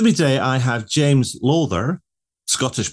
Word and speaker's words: Lawther: CX podcast with me today I have James lather Scottish pronunciation who um I was getting it wrong I was saying lather but he just corrected me said lather because actually that's the the way it should